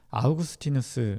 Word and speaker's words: 아우구스티누스: 깊이 생각했던 사람을 꼽으라면 아우구스티누스 라고 하는 사람 을 꼽을 수 있어요 영어 발음으로는 업 어스틴 으로 여러분에게 알려졌을 텐데요 아마 그 이름이 더